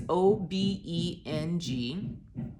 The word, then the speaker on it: Obeng: Here are some specific tips about the profile that I learned from Portia Obeng. I know I mispronounced it, Portia. It's Obeng.